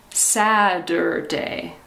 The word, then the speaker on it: Saturday: united states we say saturday it sounds like a d like d saturday saturday sa der again